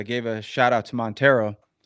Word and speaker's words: Monteiro: You said I think it's Montier. It's actually Monttero. Like remember the Mitsubishi Montero? Yes. The SUV. It's that's that that's how it's pronounced.